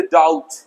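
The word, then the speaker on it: doubt: इस तरीके से डाउट, बी साइलेंट है, डाउट।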